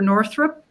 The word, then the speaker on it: Northrup: Northrup.